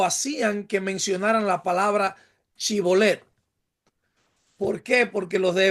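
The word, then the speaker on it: Shibboleth: una persona, ya que los efraimitas no podían pronunciar correctamente la S con la H, o sea, la SH.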